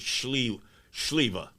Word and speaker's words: Sliwa: The way it's pronounced is Sliwa.